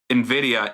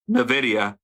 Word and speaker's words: NVIDIA: I know NVIDIA is the proper pronunciation of that company's name, but when I read it, I was like, oh, that's Nuh-Vidy-Uh.